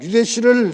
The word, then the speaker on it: 유대: 앞에서 언급한 유대시를 설명하면 이렇습니다.이 이 유대의 이름에서 대자는 사전에서대 또는 태라는 두 가지음을 가지고 있는 문자입니다. 그래서 유대 또는 유태라고 발음합니다.